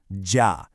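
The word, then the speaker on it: 家: Okay, let's start with the first character, J, which is pronounced ja.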